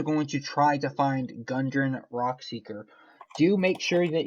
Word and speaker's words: Gundren: You are also going to try to find Gundren Rockseeker.